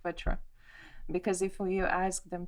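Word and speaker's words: vētra: like my language, so that English people could pronounce this word correctly. It's like vetra, because if you ask them to pronounce vatra, it's difficult.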